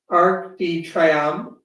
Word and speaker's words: Arc de Triomphe: it and I'm sure I was going to pronounce it wrong. So how do you say it? Arc de Triomphe.